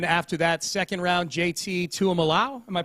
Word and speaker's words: Tuimoloau: And then after that, 2nd round, JT Tuimoloau. Am I pronouncing that right, Johnny? Tuimoloau. Tuimoloau.